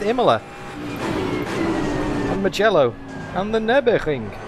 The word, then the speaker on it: Nürburgring: The Nürburgring.